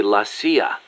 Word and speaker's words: la CIA: Around here they say La CIA instead of CIA, huh? Nothing strange about it. That's how it's pronounced when you read it in Spanish.